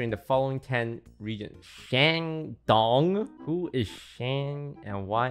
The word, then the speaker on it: Shandong: I'm going to use the Chinese pronunciation. Shandong, Guangdong, Shanghai, Zhejiang, Jiangsu, Henan, Fujian, Sichuan, Liaoning, Hunan.